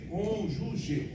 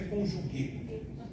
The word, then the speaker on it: cônjuge: É cônjuge. Pronúncia é essa, cônjuge. Não tem que. Vocês me viram colocar que? Não é conjugue.